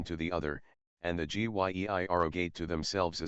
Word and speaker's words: Gy: the singular with man the word for woman is gy pronounced hard as in guy it forms itself into G yei for the plural but the G becomes soft in the plural like Ji they